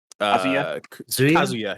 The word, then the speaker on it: Kazuya: But yeah, this is a very exciting announcement to me because I love Tekken and I don't know how you pronounce his name. Kazuya.